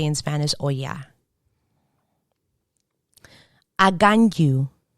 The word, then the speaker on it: Aganyu: Aganyu. In English, I have also heard this as agayu. But normally there's an N that's supposed to be there. Aganyu. In Spanish, agayu. I never heard the N being pronounced.